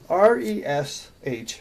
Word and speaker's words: resh: the letter R and you pretty much have a guttural sound when you say it Haresh now I